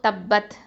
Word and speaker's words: تبت: أعوذ بالله من الشيطان الرجيم بسم الله الرحمن الرحيم تبت يدا أبي لهب وتب இப்போ தப்பத் த ஃபத்ஹா ப ஷத்தா தப் ப ஃபத்ஹா த சுகுன் பத் அப்போ தப்பத் இந்த ப ஷத்தாவை வந்து நம்ம கொஞ்சம் அழுத்தி உச்சரிக்கணும்.